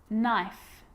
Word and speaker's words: knife: you know this one a k is not pronounced when it comes before an n like knife no knee knock not